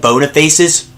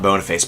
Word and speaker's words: Boniface: a lot of old Bona faces uh I actually realized that Boniface is actually bonaface is actually how you pronounce it not Boniface but I'm just gonna